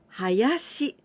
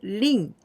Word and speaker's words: 林: We can pronounce this kanji hayashi. Hayashi, this means small woods. And also rin in ONYOMI.